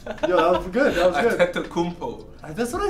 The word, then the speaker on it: Antetokounmpo: Like Jokic or Antetokounmpo? Antetokounmpo. Giannis. Couldn't say his name. Say that again one more time. Giannis Antetokounmpo. Yo, that was good. Antetokounmpo.